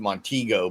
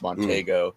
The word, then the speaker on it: Montego: a 69 Mercury monteo I've seen people pronounce it Montego but I think it's monteo yeah you know you